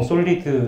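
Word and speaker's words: SOLID: esp 그 다섯가지 인데요 그 4번 5번을 뒤집어서 보통 솔리드 라고 읽어요 근데 저는 설명할 때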